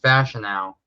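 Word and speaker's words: Fashanu: it's King yeah no it's last name is pronounced fashion now it's not F oh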